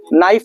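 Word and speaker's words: knife: उसी तरह अगर नाइफ लिखेंगे ना, नाइफ मीन्स क्या होता है बाबू, चाकू। तो नाइफ में भी आपका के क्या होता है, साइलेंट होता है।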